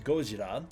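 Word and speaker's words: ゴジラ: That's how it's written, but it is still pronounced as Gojira to Godzilla with the kanji gojira.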